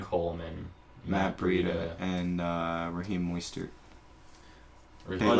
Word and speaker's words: Mostert: Moistert. Moister. Mo- Like more moist. Moistert. I don't know how to pronounce it.